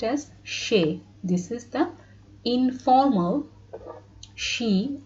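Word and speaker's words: সে: this bangla word and this will be pronounced as shay this blue one is the bangla word which should be pronounced as shay this is the informal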